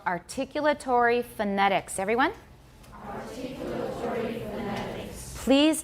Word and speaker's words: articulatory: Okay, that's kind of British. We don't say articulatory. 这个已经练过好多遍哦。 Where's the stress? Second syllable, articulatory.